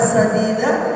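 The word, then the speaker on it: سديدا: salah membacanya dalam al-qur'an ada sadida ada syadida betul ada sin ada syin beda huruf beda makna kalau dibacaan sadid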